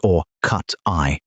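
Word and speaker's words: orcutti: Those coyotes have their own subspecies name, Canis latrans or cuti, pronounced or cut eye.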